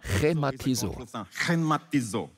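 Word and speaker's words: χρηματίζω: Es wird glottal ausgesprochen: chrématizó. Versuch es mal auszusprechen. Du hast deine Maske auf, also musst du nicht befürchten, dass du jemanden anspuckst. Sag mal chrématizó. Es hat so einen Glottallaut.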